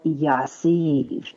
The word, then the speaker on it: Yassiv: All right, my next tool before we come up to our break is called Yassiv, and that's spelled Y as in yellow, A as in